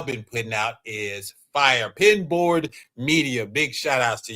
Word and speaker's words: Pinboard Media: That's pinball. It's pin board. Pin board. Yeah. Thank you. I I thought I was saying it wrong.